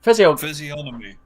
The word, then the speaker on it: physiognomy: Physiognomy, I think it is. In fact, hold on, let me look. Psychognomy. Here it is. How do you pronounce it? Physiognomy. Physiognomy.